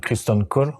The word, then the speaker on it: Criston Cole: pardon où tu joues christon Cole c'est ça je prononce bien c'est exactement ça sir christon col donc